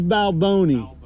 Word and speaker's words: Balboni: yeah like we you guys work for Steve Balboni though no no have you ever you never heard what name whatever you just said yeah guys don't respect the boss it's Steve Balboni let me hear you say it there you